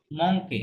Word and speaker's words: manquent: মঙ্কে, না না না, আমি বলেছি হয়তো কিউ এর পরে যদি ইউ মঙ্কে। থাকে, হ্যাঁ, কিউ এর পরে ইউ থাকলে এটা নরমালি কি থাকবে? সাইলেন্ট থাকবে, ঠিক আছে? যেমন ও।